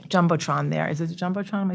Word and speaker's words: Jumbotron: Is it the Jumbotron?